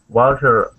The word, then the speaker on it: vulture: Okay, so yeah, that T there is going to sound more like a CH.